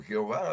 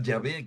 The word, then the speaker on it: Yahvé: Que es lo que quiere decir Yahvé. Que los protestantes siguen pronunciando erróneamente como Jehová, ¿verdad? Ya ellos están equivocados. Pero la palabra Yahvé quiere decir yo soy.